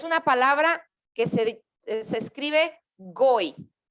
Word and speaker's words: goy: eran del pueblo escogido, es una palabra que se escribe goy, G-O-Y, goy.